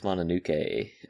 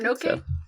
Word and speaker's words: Mononoke: but I am going to go see Princess Mononoke in theaters today. So, that's fun. Is Is it Mononoke? Not Mononoke? Mononoke? Mononoke. Oh, Mononoke movie.